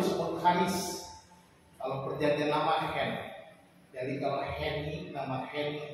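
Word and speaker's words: חן: Kata kasih di situ dalam bahasa aslinya, bahasa Ibrani itu hen. Bacanya hen.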